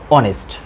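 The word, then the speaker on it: honest: যেমন অ্যান অনেস্ট, তারপর an hour. এইখানে এইসের উচ্চারণ হ না হয়ে অ হয়েছে, অর্থাৎ স্বরবর্ণের মতো হয়েছে।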